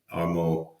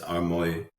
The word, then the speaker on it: Armoy: many other people knew Armo. It's pronounced Armoy. Sorry, Armo, but it's spelled Armoy.